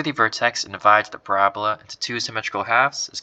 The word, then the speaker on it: parabola: right this kind of curve is called a parabola all right that's how you say it parab